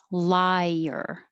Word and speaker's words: liar: This came up as contrast to number 7, lawyer, and number 13, liar. So your tongue goes up very high. Liar. And in 7, your tongue stays flat. Lawyer.